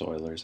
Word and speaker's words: Euler's: It's pronounced Euler's. I know it looks like Euler.